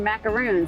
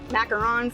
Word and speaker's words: macarons: And she's like oh no no no lady you don't say it like that. So tell us what is the difference between macaroons and what you sell which is we make macarons. Macarons are a small French delicate cookie made with almond flour.